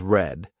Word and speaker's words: read: Read is pronounced as read which is in present tense while read is pronounced as red which is in the past tense.